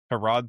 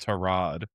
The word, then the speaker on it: Tyrod: But yeah, I I mean again on the other side, how did you feel about uh Harrod Taylor? No, didn't you say that? That's not how you pronounce it.